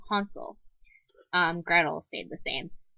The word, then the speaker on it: Hansel: Americans we pronounce it Hansel and Gretel um they pronounced it in the German the correct German form Hansel um gredle stayed the